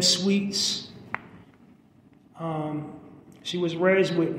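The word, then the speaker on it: Sweetz: And Sweets is spelled with a Z, so it's Sweet, S-W-E-E-T, and then Sweets, S-W-E-E-T-Z.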